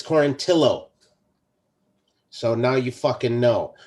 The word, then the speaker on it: Quarantillo: It's Quarantillo.